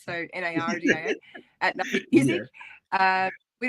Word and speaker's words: Nardia: It's at Nardia Music, but in America you say Nardia with the R, so Nardia at Nardia Music.